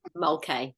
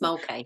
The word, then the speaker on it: Mulcahy: Could you please pronounce it for me so I can get it right? Mulcahy, just Mulcahy.